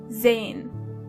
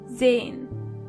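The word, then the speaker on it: sein: verben to see is zane. Zane. As you can see, the letter S is not pronounced as S but more like Z. So you say Zen. Zane.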